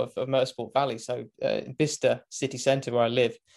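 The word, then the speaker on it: Bicester: of Motorsport Valley so bista City Center where I live well you guys are probably call it B Chester because that's how it's kind of spell it's weird British British pronunciations don't get me started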